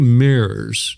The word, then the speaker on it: Meurs: And my guest today is Meurs. Did I pronounce that right?